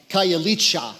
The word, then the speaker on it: Khayelitsha: of Cape Town and the names a little hard to pronounce but here's how I pronounce it this Khayelitsha Khayelitsha Khayelitsha is one